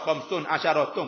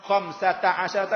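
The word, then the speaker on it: خمسة عشر: Nak baca khamsun asyaratun pun tak sakit perut pun dak kali. Boleh tapi salah kaedah orang panggil. Baca khamsa asyarata. Pas nak baca khamsata asyarata boleh nak buka pada khamsata tak boleh juga.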